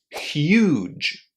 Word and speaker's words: huge: This word is pronounced with u inside with a long oo there and it ends in j just as the beginning of the word just or jim.